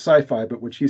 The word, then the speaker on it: sci-fi: and whatnot, that's sci-fi, which some people pronounce sci-fi, but which he said should be pronounced skiffy.